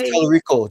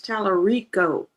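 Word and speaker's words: Talarico: Anyway, James Telico. James Telico. Telerico.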